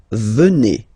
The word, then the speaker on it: venez: okay, and then vous venez, remember a Z combined like that, et, venez, venez, vous venez, okay.